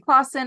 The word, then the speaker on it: Klassen: My last name, Klassen. Yeah, Klassen, right? It always messes me up because when I say Klassen, I think there should be a U in there.